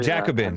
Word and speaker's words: Jacobins: The Jacobins, is how you say Jacobins.